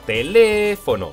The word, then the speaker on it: teléfono: al truco del lobo teléfono lleva la fuerza de voz en Lee por lo tanto no